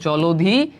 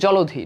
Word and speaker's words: জলধি: তো বুঝতে পারতেছো উচ্চারণে এইটা হচ্ছে আমাদের রাইট অ্যান্সার, জলধি। এখানে লয়ের সাথে একটা ওকার আসে উচ্চারণ, জলধি।